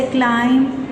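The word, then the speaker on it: climb: अगर वर्ड के एंड में एम आ गया है तो बी साइलेंट हो जाएगा, जैसे क्लाइम, क्रम, डम, कॉम, ये बी साइलेंट है।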